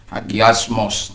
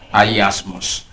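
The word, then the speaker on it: ἁγιασμός: Kadang orang bilang hagios. Hagiasmos. Tapi dalam pronunciation yang benar ialah ayasmos.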